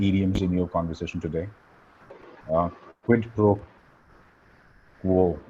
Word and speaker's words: quid pro quo: Quid pro quo. I have a hard time pronouncing this word. Right, Uh, it is quid pro quo.